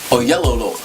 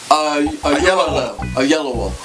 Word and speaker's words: Oyelowo: Oyelowo.